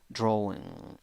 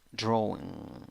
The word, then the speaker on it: drawing: has five sounds a you write it with a you pronounce it with oh draw drawing drawing nice next one eight